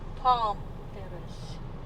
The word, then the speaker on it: Palm Terrace: Or how do you say the name of this place? Pohnpei Terrace or Pohnpei? Palm Terrace. Man, Palm Terrace. PALM.